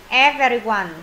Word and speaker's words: every: Everyone. Chọn câu nào? Collection. Helper. Contest. Everyone. Chọn câu nào? Câu D đúng rồi. Every thì các bạn đọc là âm ờ chứ không phải âm E.